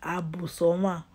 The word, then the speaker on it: Abusoma: Abu, for short, Abu. But the full pronunciation is Abusoma.